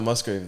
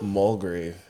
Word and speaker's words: Mulgrave: your full name yeah it's not Musgrave though oh no mulgrave yeah mulgrave yeah and it's misspelled on